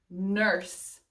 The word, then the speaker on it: nurse: That E, silent. It's not one of those, like R blanky. That's not a thing. But it is silent, like in the word charge or the word chance, I think it was. So yeah, this word or this E is silent.